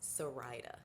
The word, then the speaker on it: Saraida: name is sarita and it's pronounced sarita think ryder like i'm a ride for her i don't know ryder